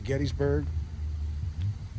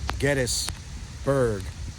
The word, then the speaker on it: Gettysburg: James Geddes, of course, is the proprietor and the founder of Gettysburg. It's not Gettysburg, it's Gettysburg is the proper pronunciation of this town.